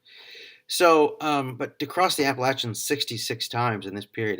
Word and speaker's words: Appalachian: an enormous number of miles he crossed the Appalachian and yes that's how you pronounce it 66 times in order to reach